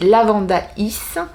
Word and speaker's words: Lavandaïs: Lavandé en Provence, à prononcer Lavandaïs.